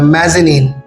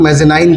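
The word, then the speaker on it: mezzanine: इन the same way there is another word मेज़नीन। मेज़नीन को अक्सर लोग मेज़नाइन कहते हैं, मेज़नाइन गलत प्रोनंसिएशन है।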